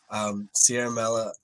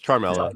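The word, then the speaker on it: Ciaramella: Sierra Mella, how do you say it? Sierra Mella? I think it's a hard C. I think it's Charmella. It's Charmella because I'm pretty sure it's Italian. Super Italian.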